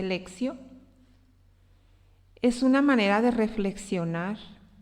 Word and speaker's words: Lectio: de la Lectio Divina, se escribe Lectio, se dice Lexio, es una manera de reflexionar y de orar un texto bíblico.